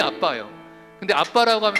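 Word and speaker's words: ἀββα: 아바라고 이렇게 적어 놨는데 아빠예요. 알파 베타 베타 알파라고 헬라어가 발음이 아빠예요.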